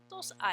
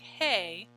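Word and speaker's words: hay: a y looks like hey but we say I in Spanish we don't pronounce the letter H the letter A says a and the letter Y says e so we say I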